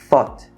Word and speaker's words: thought: Tudo isso aqui, thought. Com aquele TH que a gente já falou, né? Thought. Ó, primeiro sopro, depois é que sai o ot.